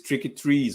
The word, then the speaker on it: Tricky Trees: wolves1 um my brother man please help me pronounce this how do you say this tricky trees or what yeah yeah exactly you got it